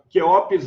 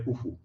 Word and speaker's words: Khufu: Quéops é em grego, e Khufu é em egípcio mesmo. A pronúncia antiga seria Khufu. Mas pode falar Quéops sem problema, é do grego.